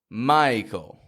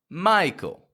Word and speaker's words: Michael: Tell me, which vowel is clearest in this name? Michael. Michael. The I.